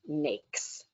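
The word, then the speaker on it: NAICS: system code is pronounced snakes and if you need a reminder snakes cakes it rhymes with those words um being able to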